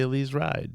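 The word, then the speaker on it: Elize Ryd: Heard the other day somebody said Elise ride so I'm gonna now say Elise ride so you're welcome Alise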